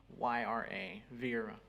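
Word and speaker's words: Vieyra: Vera just as a sound z-o-o-m uh no it's spelled differently using um okay and your last name is v-i-e-y-r-a Vera in Spanish they say Vietnam thank you will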